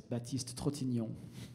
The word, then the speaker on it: Baptiste Trotignon: And my name is a French name, so it's very tough for you guys, but it's Baptiste Trotignon. I mean, tough to pronounce.